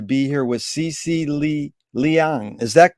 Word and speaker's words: Liang: pleasure today to be here with CeCe Lee Liang is that correct way to pronounce it yes that's correct CeCe thank you